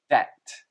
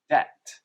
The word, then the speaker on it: debt: as depth depth but the b is silent and we just pronounce it as debt think of it as just d-e-t debt and a debt is